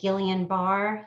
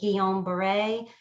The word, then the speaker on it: Guillain-Barré: thinks that I had, some people pronounce it Guillain-Barré syndrome, and some pronounce it Guillain-Barré, but basically it's a autoimmune